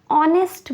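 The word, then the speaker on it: honest: रही है ओ की यहां पर एच साइलेंट है एच की आवाज नहीं है तो हम ऑनेस्ट को इसको हम ऑनेस्ट प्रोनाउंस करेंगे हम इसको ऑनेस्ट बोलेंगे तो इसकी साउंड किसकी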